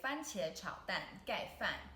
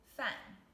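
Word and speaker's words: 饭: gai means covered and the second character fan fan the fourth tone fan can you guess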